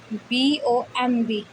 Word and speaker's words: bomb: अगर किसी वर्ड में बी एम के बाद आता है तो बी साइलेंट होता है। इसके बाद आता है बी एम के बाद आता है, बी एम के बाद आता है। जैसे BOMB, एम के बाद आया बी।